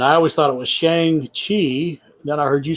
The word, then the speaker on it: Shang-Chi: Pronounced Shang-Chi, and I heard Kevin Feige pronouncing it Shang-Chi, so I figure it's Shang-Chi, but I don't know.